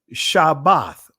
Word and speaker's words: Shabbath: Anyway, uh but Shabbath, right? That's why I put the uh the hyphen or or the dash in between, right? just so that way you understand the proper pronunci pronunciation of it.